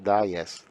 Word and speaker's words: Valles: In Spanish, that would be Valles, because the double L is pronounced like a Y, Valles.